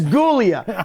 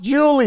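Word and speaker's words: Giulia: Kind of looks like it says Gulia, but it's pronounced Julia.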